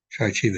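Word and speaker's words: Shaarei Teshuvah: Shari Tshuva is the way I pronounce Shari Tshuva, the Gate of Repentance.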